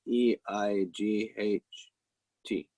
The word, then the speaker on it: eight: put we spell it e i g h t right but this g is silent we don't pronounce the g we say eight okay